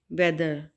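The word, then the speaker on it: weather: वेदर, इसमें एज की sound नहीं होगी, ये साइलेंट लेटर होगा और इसको प्रोनाउंस नहीं करेंगे और ये इसको ऐसे इसकी प्रोनाउंसिएशन देखें, वेदर, यानी एच साइलेंट है, ठीक है, आया के, वेदर।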